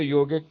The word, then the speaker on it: yog: Um, the thing is, yoga is yog actually. So people Correct. say yoga, but the A is silent.